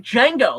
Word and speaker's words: Django: your name he's like Django he's like how do you spell it he says you know DJ a NGO and it's like the D is silent and the old chain